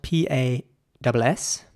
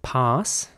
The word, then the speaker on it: pass: The next word is spelled P-A-S-S. And in British English, it would be pronounced pass. And in American English, pass. So pass and pass.